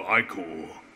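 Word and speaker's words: ichor: feel it with magical icore that's pronounced I core gotcha choose or I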